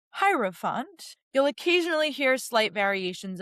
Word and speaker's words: hierophant: So, it's pronounced hierofant. You'll occasionally hear slight variations of it. Sometimes I even pronounce it aeropant, but hierofant is the way that most people pronounce it in English.